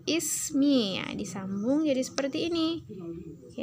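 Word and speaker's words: اسمي: Jadi bacanya ismi ya, disambung jadi seperti ini ya, huruf ini.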